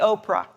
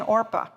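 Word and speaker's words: Orpah: interesting aside you know orpa is the source of Oprah Winfrey's name and people mispronounced it so frequently she finally adopted the Oprah but she is an orpa for this biblical figure when Ruth's Sons die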